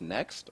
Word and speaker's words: NCXT: So just reading your, it's pronounced Next? Or? Yeah, Next. It's spelled NCXT, but it's pronounced Next.